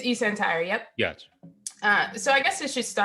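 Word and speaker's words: eSentire: how you pronounce it? It's eCentire, yep.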